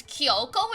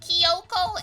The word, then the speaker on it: Kyoko: slightly wrong but Kyoko versus Kiyoko is a big slip up to make like those are two entirely different names no the voice acting is good it's just yeah in this particular case the pronunciation is like no cuz it's not even like they spelled it Kyoko and people like are